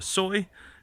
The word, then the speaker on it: soi: All right, so then back this way is we call it a soi, basically an alley that I live on, and that's spelled S-O-I, not S-O-Y, like the meat substitute.